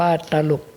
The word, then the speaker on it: ตลุก: เรียน ถวาย ท่าน ว่า อ่าน ว่า ตลุก ครับ หลวง พ่อ การ ใช้ อักษร กลาง นำ อักษร ต่ำ ให้ ออก เป็น เสียง เอก ครับ แต่ ถ้า หาก ว่า